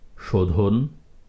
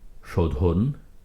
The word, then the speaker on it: শোধন: হয়েছে বেতন চেতন কেশর শোধন ধ অন্তর্ভুক্ত অ এর আগে রয়েছে ওকার শোধন একইভাবে তোষণ শোষণ ওজন